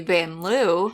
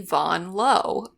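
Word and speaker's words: Julie Vanloo: name like this uh it's because we're in France and that's how she pronounces it that's how people pronounce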